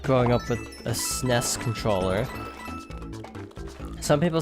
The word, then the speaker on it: SNES: growing up with a snez controller some people say sniffs some people say super and yes some people say SNES